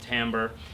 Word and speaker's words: timbre: I called it timber. It's actually pronounced timbre.